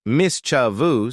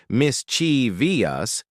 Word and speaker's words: mischievous: the word into syllables saying mischievous as mischo instead of misch Vias makes it easier listen to